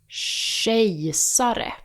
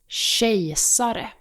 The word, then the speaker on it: kejsare: I'll compare the correct and incorrect pronunciations so you can hear the difference more clearly. Kejsare, kejsare. Gift, gift. Skylla, skylla. Kär, kär. Göra, göra. Swedes wouldn't have a clue what you're trying to say if you pronounce these incorrectly.